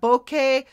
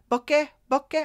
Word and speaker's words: bokeh: kind of like that bokeh bokeh how do you pronounce it b-o-k-e-h bokeh uh if you want